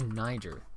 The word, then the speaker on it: Niger: According to this thing I'm reading, it says those in the know use the French-sounding Niger and emphasize the second syllable, so the word makes an approximate rhyme with Pierre.